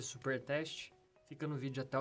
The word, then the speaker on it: supertest: npm install --save jest espaço supertest. Lembrando que tanto jest quanto supertest o T é mudo, como vocês podem ver aí na tela.